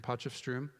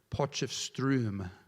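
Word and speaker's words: Potchefstroom: they've been there in postom and I'm even saying that the name wrong it's actually poom can everybody say that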